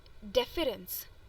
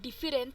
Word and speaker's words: deference: the next word is deference this is not different is deference so look at the